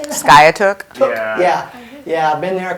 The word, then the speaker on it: Skiatook: Skiatook.